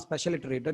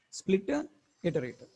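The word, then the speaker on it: Spliterator: another name split iterator this is not special iterator I pronounce it as a special iterator in the video it is not special iterator it is Splitter iterated Splitter iterator okay so totally how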